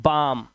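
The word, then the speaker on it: balm: इसी तरह से यह बालम नहीं है। इसे पढ़ते हैं बाम।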